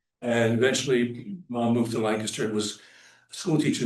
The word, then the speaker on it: Lancaster: and Jean Thomas of not Lancaster but Lancaster sorry rhymes with gangster and um mom and dad met when dad was in CPS.